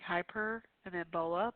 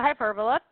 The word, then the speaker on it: hyperbola: is is a hyperbola it's kind of like hyper and then Bola but you don't say it like that H it's a hyperbola it opens horizontally yes